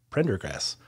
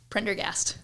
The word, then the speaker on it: Prendergast: a fitness professional, Prendergrast. Did I say that right? Close. Prendergast. Prendergast. Yes. I should know this for like 2 years we've working together. I've been saying it wrong the whole time.